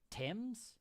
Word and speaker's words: Thames: Yeah, the name of that river in Spanish is Thameses, but in here it's Thames. We don't pronounce it's weird.